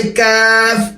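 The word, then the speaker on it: ق: ফা, এক আলিফ টান, ফা, ফা, দাঁত কামড় দিয়ে, ফা, তারপর অক্ষর দেখেন কফ, 3 আলিফ টান, কফ, কফ না, মুখ খুলবে না, ক, ক, এরকম বাড়ি খাবে না, কফ, আওয়াজ মোটা হবে কিন্তু বাড়ি খাবে না।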